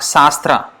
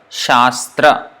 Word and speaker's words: Shastra: and then it is not sastra sastra means it is the same SS but no here s with accent one table first so sure and then second one is sir Shastra that's how it's pronounced sure remember sure position